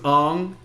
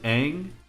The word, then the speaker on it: Aang: And his name was Ong because Shyamalan couldn't pronounce Aang. I don't know how it doesn't sound like it's a tongue twister. Aang.